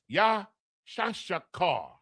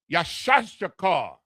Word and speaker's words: Issachar: The Yah, the Shah, the Ka, and the Ra. Properly pronounced, Yashashakar. Yashashakar, Isupk, Yashashakar, the Mexican.